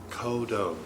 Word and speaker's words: Kodo: Kodo, which is a Japanese drum, this big drum. And viewers, that's spelled K-O-D-O.